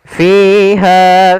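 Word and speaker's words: فِيهَا: ard wahail anam fiha fakihatun w nakakhlu dzatul akmam pada bacaan fiha maka di sini kedua-duanya ada mad thabi'i yang pertama pada lafal fi yaitu adanya Ya, kasrah bertemu dengan ya. Kita panjangkan dua harakat f-nya.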